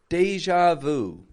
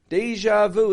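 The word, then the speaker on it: déjà vu: that this felt like deja vu to George deja vu deja vu it's French to say I've seen this before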